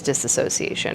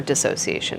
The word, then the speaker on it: dissociation: we call association versus disassociation, or dissociation. It's pronounced both ways.